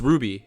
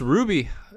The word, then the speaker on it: RWBY: yeah but yeah it's ruby very exciting that's how you pronounce it ruby i do believe not ruby ruby um